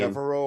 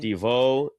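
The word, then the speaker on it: DeVaux: Devereaux or Deveau? Deveau.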